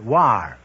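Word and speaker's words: Loire: the correct answer is l o i r e pronounce War they tell me so that means the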